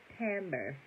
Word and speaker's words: timbre: him he smelled wonderful what Timbre real quick because I know I've been doing the most tamber I ain't even saying it right according to Google tamber the character or quality